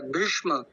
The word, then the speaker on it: भीष्म: बहुत सुंदर माता जी एक ये भीष्म तो इसमें भी है ना हमको हा इसमें भी मुर्धन्य सकार के साथ में म है तो ऐ आएगा भीम नहीं भीष्म भीम हां जी हा